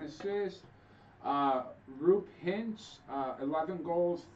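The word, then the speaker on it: Roope: Rupe Hintz, 11 goals, 3 assists. And then Joe Pavelski, 7 goals, 7 assists. Just for future reference, it's pronounced Rope.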